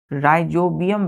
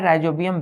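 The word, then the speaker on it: Rhizobium: होते हैं तो बाय राइजोबियम बैक्टीरिया चौथा स्पेलिंग देखिए आर एच आई जड ओ बी आई यू एम राइजोबियम bacteria चौथा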